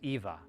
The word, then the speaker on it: Ewa: So you I recognize that as like a German almost a German influence because I'm like, "Oh, well Germans pronounce the W with a V, not a W."